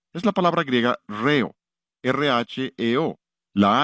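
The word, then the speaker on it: ῥέω: Y una de las más interesantes de esas palabras es la palabra de la que viene nuestra palabra, ritmo. Es la palabra griega reo, R-H-E-O.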